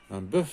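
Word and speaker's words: bœufs: مثلا ان بوف دي بو على مارك دي بلوريال هي دي اس ولكن في النطق كتختلف. ان بوف هو ذكر البقر الجل دي بو.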